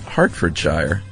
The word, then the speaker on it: Hertfordshire: Hertfordshire is pronounced Hertfordshire.